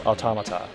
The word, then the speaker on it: automata: I can verify it is automata. Derived from the Greek and Latin word automaton.